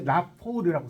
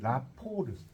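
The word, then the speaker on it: rapport: 네, 이걸 이제 이럴 때 라포르라고 써보세요. 라포르. 네, 그렇죠. 불어요. 라포르. 이제 우리 이제 라포라고도 이제 쓰여요. 라포인데 엄밀히 말하면 라포르라고 읽어요.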